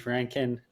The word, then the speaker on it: Rankyn: obviously you got the name right you even pronounced it right so that's a good my name's my name's my name is Ranken uh I am an East Coast Canadian um